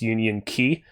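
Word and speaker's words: Union χ: mobile called kingdom hearts union x or alternatively pronounced union key it's a whole big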